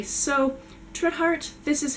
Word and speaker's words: Trithardt: quite that quickly, so trit like wit, heart like Hannah. Anything really. Schmidt schmart, quit quart, any version of those syllables smushed together, Trithard.